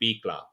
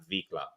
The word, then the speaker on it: bicla: And properly pronounce it, it was a B. V is a B in Spanish. So you say bicla, not vicla.